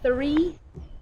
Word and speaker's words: three: example is three it needs to be said three not theme the other common way to make